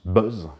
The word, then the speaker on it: BZ: On a préféré le remplacer avec un machin appelé BZ, qu'on prononce Buzz, qui est un nom bien plus agréable à prononcer que benzylate de 3-kinuclédényl.